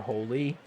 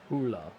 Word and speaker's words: Hole: By the way, in the first Harry Hula book, they actually do phonetically render his name because an Australian gets it wrong. They call him Mr. Holy, and he corrects it, and they spell it out, Hula.